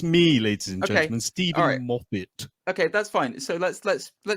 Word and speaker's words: Moffat: You know, written by Stephen Moffat and starring Benedict. But no. I'm sorry. I can let you get away with a lot of stuff. What the hell was that pronunciation of Moffat? I say Moffat.